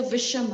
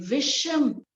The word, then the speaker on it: Visham: First is a Visham Agni. Visham, the pronunciation is Visham.